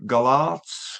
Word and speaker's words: Golarz: I'm from Gig Reviews and Metallibil online magazine and you are Mike Galard from All Sers. Have I pronounced that right?